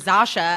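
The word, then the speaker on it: Zosia: How do you pronounce it? Zasha.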